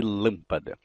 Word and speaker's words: lâmpada: Então eu digo natural. Eu digo parede. Eu digo lâmpada. Nenhum falante da língua vai dizer natural, ou parede, ou lâmpada.